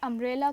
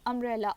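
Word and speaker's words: umbrella: अगर हम यूनिवर्सिटी और अंब्रेला को जो है वो करें कंपेयर करें तो अंब्रेला अ अ की आवाज आ रही है अंब्रेला अंब्रेला आ की आवाज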